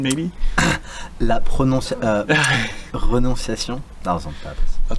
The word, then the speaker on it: Renonciation: And as usual, Henry's going to correct me on the pronunciation, maybe? Renonciation.